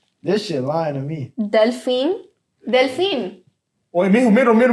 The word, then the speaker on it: delfín: No, it's not dolphin. And then pronounce it for us, Jeff. Yeah, he's not. Delfin.